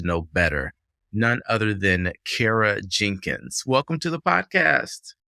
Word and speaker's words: Kara: of dive into content I always remember how to say your name because I say Cara cares and I like the